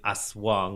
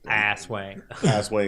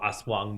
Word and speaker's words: aswang: But I always want to ask this question first of all, I'm glad I didn't pronounce it asswap because asswang because you're gonna die if you're gonna die if you call them an asswang.